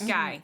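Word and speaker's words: Gey: Guy. Why do Otto, George Otto George Guy. Otto Guy. Yeah, why do I keep wanting to say it weird? I don't know. Because Because it's spelled weird.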